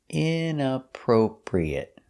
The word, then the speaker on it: inappropriate: next word is inappropriate inappropriate stresses on the inappropriate the first and third syllable inappropriate inappropriate inappropriate is